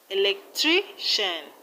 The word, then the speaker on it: electrician: In electrician, we have the stress on tri. Electrician. And in technician, the stress is on ni.